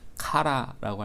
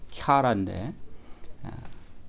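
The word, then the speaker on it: χαρά: 영어식 발음으로 하자면 카라라고 할 수 있을 것 같아요. 카라라고 읽을 수 있을 것 같은데 본래 그리스어 발음은 캬라인데 어쨌든 캬라라는 말이 있는데 그 캬라는 두 가지 의미가 있습니다.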